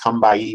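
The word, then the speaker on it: Combahee: area of known as the come by II that's pronounced come by a river in South Carolina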